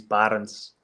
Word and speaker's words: Barends: say my name because in my language my name is Barons so I don't think